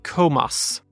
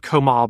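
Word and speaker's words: Comas: colom Alberto colbo Eric komas I'm told it's not Komar but yeah Eric komas Franco kotti George Conor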